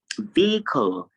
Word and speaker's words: vehicle: You can see that it is a long E sound that you have immediately after the V sound, which is v, vehicle.